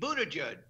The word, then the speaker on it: Buttigieg: But Scott, do you know how to pronounce his name? Pete Buttigieg.